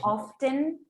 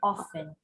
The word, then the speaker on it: often: lot of people say often and a lot of people say often both are correct okay it happens that